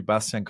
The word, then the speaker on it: Bastian: impo impossible I totally understand that so correct pronunciation would be Bastian and uh it's actually one one part